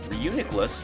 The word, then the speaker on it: Reuniclus: Reuniclus, that's how you say it.